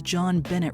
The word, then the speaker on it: JonBenét: His full name is JonBenét Ramsey, and JonBenet alluded to a French pronunciation of John's first and middle name.